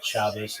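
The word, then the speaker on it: Shabbos: And uh when I say Shabbat, that's the um that's the sphartic way of saying it. Shabas is the Ashkenazi way of saying it.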